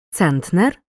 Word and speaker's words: центнер: другий або третій склад наголос на першому складі у словах коси центнер дано спина донька наголос на